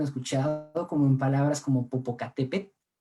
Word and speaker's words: Popocatépetl: tocar nuestros dientes o popocatépetl popocatépetl y estás igual bien la l no se pronuncia no es tan sonora como nosotros hemos escuchado habitualmente quizá en la radio